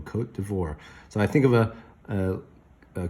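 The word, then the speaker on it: Côte d'Ivoire: here's this interesting name cote de voir like a french name and this little carrot i thought it would be all fancy but it sounds like a long o cote d'ivoire so i think of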